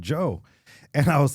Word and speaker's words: Djo: go, I think it's Joe. She goes, but it's spelled Da Joe, and I go, I think it's Joe though.